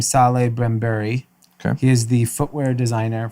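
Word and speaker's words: Salehe Bembury: little differently okay so i believe you pronounce his name saleh brambury he is the footwear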